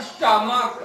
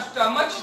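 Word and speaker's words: stomach: इसके बाद स्टमक, स्टमक में क उच्चारण हो रहा है, स्टमच तो होता नहीं है, तो स्टमक हुआ इसलिए स्टमक्स एस लग जाएगा, समझने में कोई दिक्कत नहीं होनी चाहिए।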